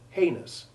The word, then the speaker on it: heinous: The last of these words, by the way, is an old word often affected by journalists and politicians who love to call crimes heinous rather than serious or grave, and it is often horribly mispronounced, as though it rhymed with genius.